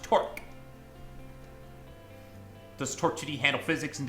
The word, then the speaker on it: Torque: You think it's pronounced torsion? Torsion? It's pronounced torque.